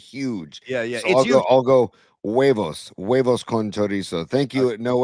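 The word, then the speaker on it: huevos: The H is silent in hueos. No, we not hueos. It's wavos.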